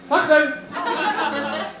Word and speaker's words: Fakhr: Because it sounds like that word. But he can just explain to the other boys that it's pronounced Fakhr.